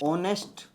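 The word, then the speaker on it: honest: गौरव भैया is dash ऑनेस्ट person. ठीक है? अब मेरे को बताओ यहां पे ए आएगा या फिर एन आएगा? ऑनेस्ट साउंड क्या है? वोवेल साउंड है ना?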